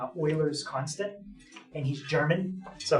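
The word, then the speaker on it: Euler: after someone it's called Oilers constant and he's German so his name is spelled you might think when I say Oiler it's o in German euu is an oi sound so this gu's name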